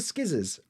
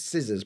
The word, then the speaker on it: scissors: Dan you seen the skizzers like joking we know it's scissors but have you seen skizzers anywhere no no no maybe